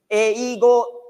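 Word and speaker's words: 英語: Eigo is English in Japanese. English, eigo, but pronunciation is eigo, straight.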